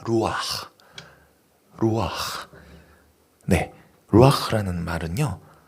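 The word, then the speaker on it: רוּחַ: 불어넣으시니 사람이 성이 된지라 히브리어로 생기는 발음이 좀 힘들 수도 있어요 현지인 발음이에요 루아 루아네 루라는 말은요 어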